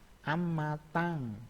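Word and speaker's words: 앞마당: Ini apmatang dibacanya amatang.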